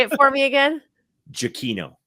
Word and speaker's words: Giacchino: Giacchino. Giacchino.